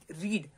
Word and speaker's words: read: Okay अब आप समझ रहे होंगे कि रीड, रीड की फॉर्म क्या होती है, रीड सेकंड फॉर्म जिसको हम रेड पढ़ते हैं, बट होता क्या है वो स्पेलिंग उसकी रीड ही READ होती है।